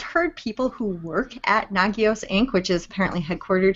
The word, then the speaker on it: Nagios: and okay so Jason so apparently I've been saying it wrong this whole time so it's nagios it's not nagios oh my god let's